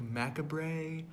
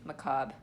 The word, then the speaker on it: macabre: But did you hear me tell you that macabre is French, which is why it's pronounced like that?